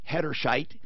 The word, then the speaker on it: Hederscheit: Mike Hederscheit, it rhymes with the name Bright Light.